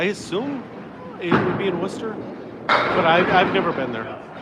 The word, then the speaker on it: Worcester: Worcester, yeah. That's how you pronounce the city. I mean, it looks like it says something else, but it's Worcester.